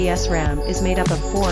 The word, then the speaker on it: SRAM: milliseconds to retain data SRAM pronounced esram is made up of